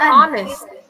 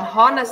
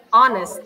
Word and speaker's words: honest: Karena ini jujur bacanya honest. Bukan honest, tapi bacanya honest. Jadinya an honest mistake.